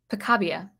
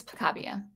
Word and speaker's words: Picabia: in my head uh picabia i think his name is pronounced francis picabia i'm going to say that